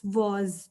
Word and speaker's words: was: It's was. ठीक है, आप समझिए कि WAS की जगह WOS है. जैसे हम O के साउंड निकालते हैं, आपने वैसे was को कहना है.